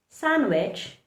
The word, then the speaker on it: sandwich: D also likes to remain silent in words like sandwich, handsome, and our favorite, Wednesday. So in the word Wednesday, handsome, Wednesday, handsome, and sandwich, don't pronounce the letter D, just keep it silent.